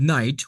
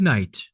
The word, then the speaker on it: night: For example, in Old English, the word night was pronounced night. But now the letter ke has gone completely silent.